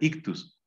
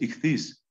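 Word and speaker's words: ἰχθύς: pescado en griego esis que se suele pronunciar ictus pero lo correcto es itis itis es la abreviatura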